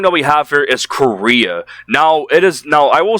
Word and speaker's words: Chorea: are overdosing on cocaine, which is Korea. That is the name of it. It's spelled Chorea instead of the country, the way it's spelled for the country.